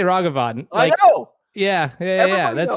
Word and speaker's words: Ragavan: paper towels Rags so the word rag you are able to pronounce that word now you imagine these rags and then just extend the word out ragavan there's no wrong of it it's not named it's not pronounced in lieu of your name it's a ragavan people have been claiming